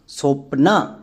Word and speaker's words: স্বপ্না: Check করো বোটা silent কিনা, উচ্চারণ করো স্বপ্না। এখানে কিন্তু বইয়ের উচ্চারণ পাচ্ছি না, তার মানে বো এখানে সাইলেন্ট।